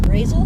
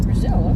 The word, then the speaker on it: Brazil: Okay, we're 17 miles from Brazil, which in Indiana is pronounced Brazil. Really? Mm, I was saying Brazil.